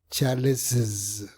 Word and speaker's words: Charles's: Cuando hablo de colocar una vocal adicional me refiero a una I porque es imposible pronunciar una doble S. James no es posible, así que necesitas una vocal. Y la segunda S suena como una Z.